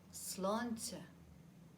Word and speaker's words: Sláinte: to irish fortuna good the second word rhymes with that this is to your health slanted now you try it